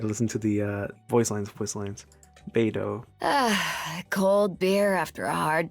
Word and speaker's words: Beidou: Beidou. Beidou. Okay. And then Ganyu? Ganyu. Ganyu. And then Lisa. Yes. No problem pronouncing that one.